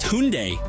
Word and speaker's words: Hyundai: And actually, it's pronounced Hyundai.